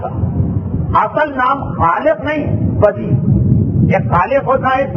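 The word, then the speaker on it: بدیع: کہتے خلق کرنے والا۔ بے دال یہ اور عین، موسم میں خشکی بہت ہے اس لیے عین کا تلفظ آپ کو صحیح سمجھ میں نہیں آئے گا، میں نے خود بیان کر دی۔ بدی اور خالق دونوں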